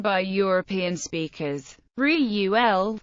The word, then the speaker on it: Reuel: Reuel, with the first syllable strong accented, is nearer to the true pronunciation.